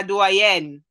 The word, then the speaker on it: doyenne: That is doyenne is French, right? So I'm going to say it like we say in French, la doyenne.